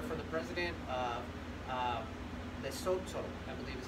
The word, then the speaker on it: Lesotho: It went to the Golden Lion Film Festival in Africa, and I got a letter from the president of Lesotho, I believe is how you pronounce the country's name, and he said, thank